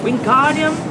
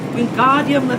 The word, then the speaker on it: Wingardium: having much more luck wingardium leviosa he shouted waving his long arms like a windmill you're saying it wrong carry for hermione it's being guardium the viosa makes the guard nice and long you do it so